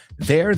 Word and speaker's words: they're: Y los tres se pronuncian exactamente igual. Di esta frase conmigo. They're there with their car.